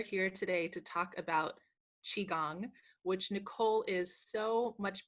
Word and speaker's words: qigong: So it's pronounced Qigong.